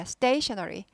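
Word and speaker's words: stationery: stationary 발음은요. st가 st 발음이 나죠. st 경음하대요. 그래서 stay 보다도 stay 하면은 많이 세요 발음이요. 힘들어요. stationary 그래서 강해지죠. 뭐예요? 된 발음이 되죠. 된 발음 경음화.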